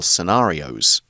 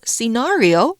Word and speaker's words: scenario: The army carried out several exercises based on different possible battle scenarios. 情况状况我们可以用 scenario or scenario，好，两种发音都是可以的。那特别指的是预想事物在未来可能发生的状况。另外呢，也可以用 situation 这个字，那它就泛指事物的状况。所以呢，例句 The current economic situation is challenging due to rising inflation.